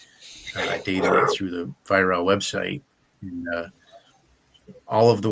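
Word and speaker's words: Weihrauch: It's spelled like Weirauch, uh, but it's pronounced Viral.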